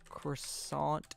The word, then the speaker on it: croissant: It's pronounced qua. That's me trying to do French.